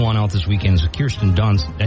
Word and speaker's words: Kirsten: But the new one out this weekend is Kirsten Dunst. Did I say her name right? Kirsten?